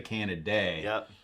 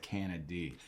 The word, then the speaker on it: Canady: avonte kennedy and we were talking about the pronunciation of his name beforehand so some people say can a day but there's no uh a y it's just a y so i'm going with canada d and so um love to have you on